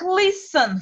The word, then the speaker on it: listen: Слушать, верно, ребят, посмотрите, есть два варианта произношения этого слова. Просто как listen, без буквы T. И можно произносить с буквы T, но так говорят очень редко. Listen. В основном это listen.